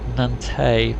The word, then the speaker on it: Nantes: having pronounced that nantes i think it's nantes because foreign correctly french don't pronounce an s on the end of a word hopefully it was just